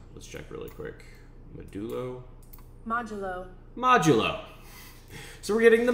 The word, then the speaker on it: modulo: modelo de lo oh how do i even pronounce it let's check really quick medullo modulo modulo so we're getting the modulo uh this